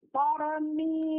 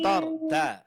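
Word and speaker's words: ترميهم: Tarmihim. Bukan tar. Ro-nya yang ditebalkan.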